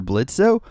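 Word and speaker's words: Blitzø: sister says Hi Mr blitzo freaking yes oh my God I freaking love well the O is silent but Blitz how's it going Dylan wait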